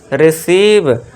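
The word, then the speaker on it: receive: फिर 7वां रूल देखिए, जब वर्ड में EI आए तो EI को लॉन्ग ई से पढ़ना है। अब देखिए EI आ गया तो इसे क्या पढ़ेंगे, रिसीव।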